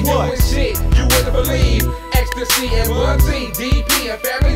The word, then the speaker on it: Xta-C: Xta-C. Ecstasy. Ecstasy for those Ecstasy. Who can't figure it out phonetically.